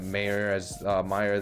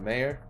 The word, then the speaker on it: Mayer: We're gonna jump in so we can hit with Mayer. Keep saying Mayer, but they pronounce it Meyer.